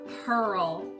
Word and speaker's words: pearl: would say ear oh because that's the word ear in the middle but it's not pronounced that way inside this shell is a pearl spelled with a an